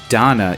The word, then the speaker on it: Dana: about this game is it is pronounced Donna even though it's spelled Dana uh I I don't